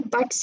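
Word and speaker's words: buttes: Okay, अभी बट्स या ब्यूट्स, whichever pronunciation you prefer, तो वो जो होते हैं, those show you continued erosion of mesas।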